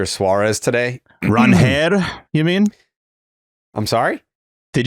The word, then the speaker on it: Ranger: The Red Sox introduced Ranger Suárez today. Ranher, you mean? I'm sorry? Did you see that in the press? I think it's pronounced Ranher Suárez.